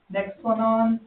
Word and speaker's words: Nexplanon: How you say it? Nexplanon. Nexplanon. Nexplanon. Nexplanon, that's it.